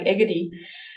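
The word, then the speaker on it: Egede: hence e who my so I pronounce it in the Danish way the English one sounds more like egedy um with the sole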